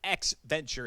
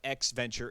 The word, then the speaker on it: EXEventure: or an adventure but to make it roll off the tongue a little bit better x venture and that's how you